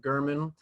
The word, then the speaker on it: German: German, spelled like German, but pronounced German.